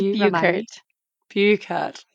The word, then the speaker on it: Buchert: Oh my God, I asked you 2 seconds ago how to pronounce your last name. Is it? Oh, can It's you remind me? Buchert. Buchert.